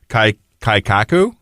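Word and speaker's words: 改革: So, and I'm going to mispronounce it, I'm sure, but it's kaikaku.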